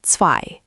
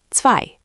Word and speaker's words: zwei: Repeat, zwei. Zwei. I heard a soft English z. Try again with the ts, zwei.